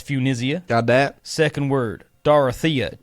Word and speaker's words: Funisia: That's spelled F-U-N, like fun. Absolutely. I-S-I-A. That's Funisia.